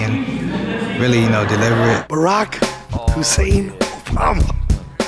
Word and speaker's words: Barack: really you know deliberate Barack Hussein Obama his first name rhymes with Iraq his middle name is